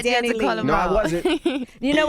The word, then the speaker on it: DaniLeigh: DaniLeigh. Pronunciation. My middle name is Leigh, and everybody Okay. just call me Danny, so I just put it together.